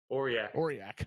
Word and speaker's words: Aurillac: Aurillac? Aurillac.